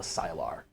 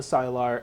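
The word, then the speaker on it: Sylar: these people called The silar Silo okay we ain't met one of them yet no how do you spell that s-y-l-a-r thank you like Skyler you know from one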